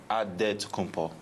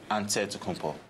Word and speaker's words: Antetokounmpo: So it's Antetokounmpo. But in the Greek way, you say it with an NT, like Antetokounmpo. Whatever you got, just say, you know, it's Giannis Antetokounmpo.